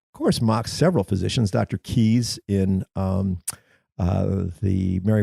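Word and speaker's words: Caius: after Dr Keys who is the founder of keys College Cambridge no kidding that's it's pronounced keys I think it's it's even though it's C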